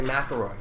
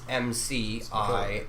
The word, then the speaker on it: McIlroy: People say McElroy, right? Mm-hmm. But it's McIlroy. The emphasis would be on the I, right?